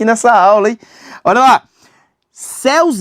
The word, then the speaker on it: céus: Oxítona parou. Só você faz isso aqui. Cúus. A pessoa, né, aprendeu a separar a sílaba batendo palma. Aí ela céus, não faz isso com Elias, não. Essa palavra aqui, ela é monossílaba.